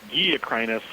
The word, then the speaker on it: Guille: So it's pronounced Guille, but it's spelled Gwilly-crinus.